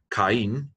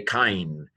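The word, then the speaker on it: Κάϊν: It means don't pronounce this like a diphthong. Don't say kain, say kain, kain.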